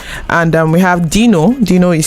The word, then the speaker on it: Deeno: And we have Dino is spelled DEENO, and we have Don Jazzy himself on this particular jam called Waka Waka.